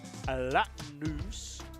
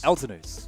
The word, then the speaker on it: Eltonus: It's not a Latinus. Eltonus. Eltonus.